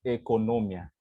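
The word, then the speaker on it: οἰκονομία: cercano a esa palabra, encontramos este término en griego, oikonomia, se puede leer, pero propiamente, si usted lo pone en el traductor de Google para que se lo pronuncie por usted, la pronunciación correcta es economia.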